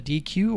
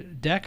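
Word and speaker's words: deque: Python data structure called a DQ or a deck I think it's DQ is the pronunciation basically it's a queue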